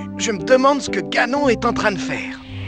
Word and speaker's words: Ganon: Mais l'ennemi s'appelle Ganon (prononcé à l'anglaise), pas Ganon !